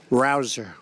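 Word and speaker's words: Rouzer: job David Rosa hey you know how you pronounce it rabble rouser you go David rouser where's David is he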